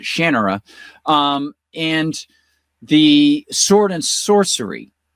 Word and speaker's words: Shannara: like Terry Brooks with the Sword of Shannara, although he pronounces it Shannara, and the sword and sorcery side of things.